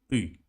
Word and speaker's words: ты: And for example, the word ты. Ты, it's you. Ты. T is like the. The big one like this. Ты.